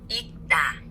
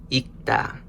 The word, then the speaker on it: 읽다: The second example we have is 읽다. 읽다, to read. So we hear the G consonant.